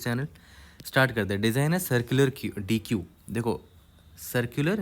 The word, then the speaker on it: deque: समझ में आ जाएगा इसको बहुत लोग डेक भी परम प्रोनाउंस करते हैं और उसका करेक्ट प्रोनंसिएशन वही है डेक ठीक है इस तरह प्रोनाउंस करना है इसको deck design your implementation of